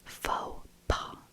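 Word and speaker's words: faux pas: Pronounced that one wrong. Next. I know this one. This is fauxpaw.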